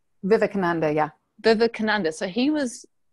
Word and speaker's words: Vivekananda: Vivekananda? Vivekananda, yeah.